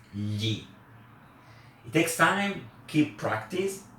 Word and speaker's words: gli: It's not pronounced gli, it's gli.